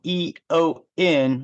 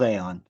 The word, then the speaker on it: EON: Aeon spelled E-O-N, when you would think it was Eon, but it's not. It's pronounced Aeon.